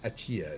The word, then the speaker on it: ATEA: Um, again, you can look up Ascendance at EA Atia is how they like it pronounced apparently.